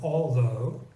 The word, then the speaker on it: although: Then we have the sound O, which rhymes with English go. And you see that in words like though, and the related word although, and dough.